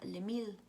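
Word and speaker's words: Les Milles: es muy escuchado y en francés se pronuncia de mille y se escribe les millas que sería traducido al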